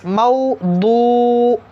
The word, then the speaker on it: mawdu'atun: When we will pair together in one time, if you will pronounce it, so you will pronounce like this: mawdu'atun, mawdu'atun, mawdu'atun.